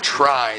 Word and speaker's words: Tri: Monster Hunter Tri, they're telling us to call it. They're putting the pronunciation of the 3 in there.